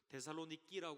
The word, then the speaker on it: 데살로니키: 세계에 있었던 교회의 유적들이 이렇게 발견되게 되었습니다 그래서 데살로니키 지금 발음을 하는데요 그리스 데살로니키 그 지방에 아 이렇게